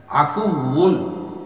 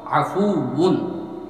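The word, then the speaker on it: عَفُوٌّ: আপনিও বলো, আল্লাহুম্মা ইন্নাকা আফুউন, এটার উচ্চারণটা হবে, এটা কিন্তু ওয়াও বাংলার ব নয়, আফুউন ঠোঁটটা লাগবে না, আফুউন, আল্লাহুম্মা ইন্নাকা আফুউন তুহিব্বুল আফওয়া ফাআফু আন্নি।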